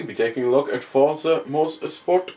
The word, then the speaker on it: Forza: But if this is Forza, why is there A, no T, between the R and the Z? And B, there's not even any umlauts or accents above any of the letters that would signify that it's pronounced Forza. You know, there's not even a space so that you can't even see it Forza. You know, that I don't get it. There's nothing that would suggest that if you weren't